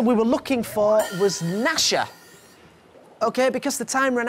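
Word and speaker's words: Gnasher: a spider called Dasha my name rhymes with both of them oh just out of time there Megan the answer we were looking for was nasha okay because the time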